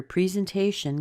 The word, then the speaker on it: presentation: So remember, presentation can be, the E in the beginning can be pronounced in 2 different ways. Make sure that the te part is where you hear the most stress.